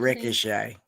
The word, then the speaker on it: Ricochet: pronounce his name? Ricochet.